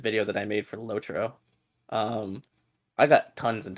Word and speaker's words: LOTRO: saying it wrong it's supposed to be lotro not loadero that sounds stupid and